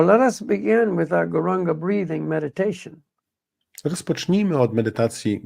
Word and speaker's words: Gauranga: Duchowej mocy i ta moc pochodzi od transcendentalnego dźwięku Gauranga, which we will divide into 4 syllables, Gauranga.